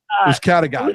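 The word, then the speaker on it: Uzcátegui: Is Uzcategui or Uzcategui? Help me out with this. Uzcategui? Uzcategui. There we go. Uzcategui. That's right. Uzcategui. That's correct.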